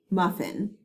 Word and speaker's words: muffin: So muff, in. Notice that I did not make the sound for the second F because it is silent.